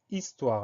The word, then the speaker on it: histoire: souvent c'est le mot histoire alors le mot histoire il a une lettre muette tout au début c'est le hb qu'on n'entend pas donc la syllabe y